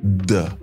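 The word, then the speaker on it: 的: absolument est le mot de. Ce mot est le mot qui s'utilise pour formuler la possession. C'est un mot qui se prononce autant neutre.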